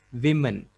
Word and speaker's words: women: It's women. Women is the right pronunciation.